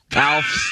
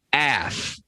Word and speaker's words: Alf: And for some reason, Emmitt Smith was unable to say Alf's name, which is Alf, but he could only pronounce it Af.